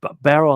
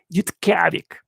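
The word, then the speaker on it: Utqiagvik: They call it Yutkavik. Yeah, I said it correctly to the best of my ability. They call it Yutkavik. That's how you say it in their Eskimo language there.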